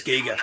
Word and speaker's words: Giger: I'm mispronouncing it myself now. I'm pretty sure it's Giger.